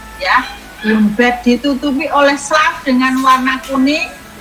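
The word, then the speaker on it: slough: Ya, tadi sudah sclaf, bukan slok ya, sclaf bacanya, jaringan mati berwarna kuning.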